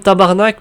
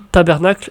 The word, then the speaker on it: tabarnac: je me disais aussi par exemple tabarnac parce que parce que personne dit tabernacle ici même que je te